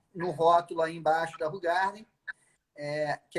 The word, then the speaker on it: Hoegaarden: Qual é a pronúncia correta desta aqui? Essa é a Hoegaarden.